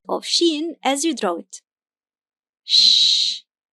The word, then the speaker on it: شين: The name is Shīn and the sound is , .